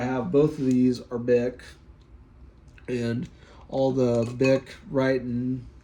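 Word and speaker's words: Bich: name was spelled Marcel B it was actually pronounced bck and he angleze his name angle sized as bick with the H dropped and pronounced as such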